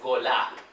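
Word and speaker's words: גולה: Que se translitera y se pronuncia como golá.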